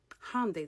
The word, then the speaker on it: Hyundai: Hyundai, that's how you pronounce it, by the way.